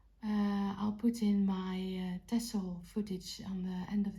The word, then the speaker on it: Texel: I know everybody says Texel because you write it with an X but us Dutch people pronounce it as tessel with a double s soundwise so just a bit